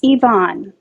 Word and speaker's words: Yvonne: name oh sure yeah it's yvonne oh even i'm so sorry i was i was saying i think i was pronouncing yoni or something i'm so sorry oh